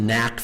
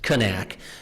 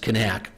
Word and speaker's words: Knaak: a little bit of the history of the Knaak family. And if you notice, one of the disclaimers I need to mention is for 15 years I've been calling them the Knaak family.